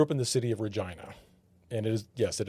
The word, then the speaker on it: Regina: Now, I grew up in the city of Regina, and it is, yes, it is pronounced. I know it rhymes with China.